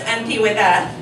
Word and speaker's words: Antiguedad: one alphabet close enough it's actually pronounced auntie with that and like David and